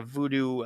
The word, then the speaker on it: voodoo: Voodoo seems to be like a very like an anglicized version of the pronunciation.